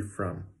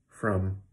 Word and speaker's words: from: are wrong because from should have the cup of mustard vowel in it, okay? So it should be very relaxed and very easy. It should be from, okay? And that word is almost always pronounced with that cup of mustard sound. So not ah, not oh, but from.